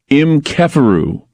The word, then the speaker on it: Kheperu: But it's not, okay, it's not pronounced Keper, they're telling me. It's called Kefer. So it's Keperu, not Keperu. Keperu, it's Kefer. Pronounced Keperu. So some people do know this. And I'm wondering about, Keferu, the Keferu mantra. It's spelled Kheperu.